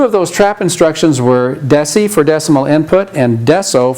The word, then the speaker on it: DECI: And the mnemonic is DECI for decimal input, so we pronounce that deci.